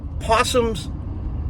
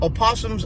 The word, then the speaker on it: opossums: Under normal circumstances, possums, or opossums, I keep saying it wrong, opossums are not a bad animal to have around.